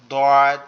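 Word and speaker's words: ض: আপনি খেয়াল করেন এই দোয়াদ যে হরফটা, এটা হচ্ছে বলা হয়েছে দোয়া- আরবি হরফের যতগুলো অক্ষর আছে তার মধ্যে এটার উচ্চারণ সব থেকে কঠিন।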